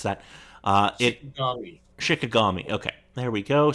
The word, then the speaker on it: Shikigami: Moving on, still on November 17th, if you had a PS2, you could pick up Castle Shikajami 2? Shikajami? I don't know how you pronounce that. Shikigami.